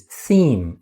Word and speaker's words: theme: Anyway, the English pronunciation is theme. It ends in E-M-E, which you think that's a bit strange, but there are a few words that sound the same.